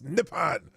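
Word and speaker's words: Nippon: word Japan so that's that's how they pronounce Japan nepon nepan nepan not Japan it's nepan so apparently um and this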